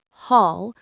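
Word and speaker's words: haul: The pronunciation is hall just like ball with an h at the beginning.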